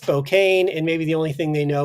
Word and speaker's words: Spokane: The Northwest is gorgeous, but uh overall Spokane as a city has uh I abandoned it for a reason.